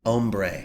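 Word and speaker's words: ombré: one, and I tried to make like an ombre. Is that how do you say that? Ombre.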